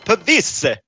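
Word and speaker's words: Pavise: The Viper's getting Pavis. Is it Pavis or like? I think that's right. I don't know the exact pronunciation. No, you but- gotta say it like an Italian would. Pavisse!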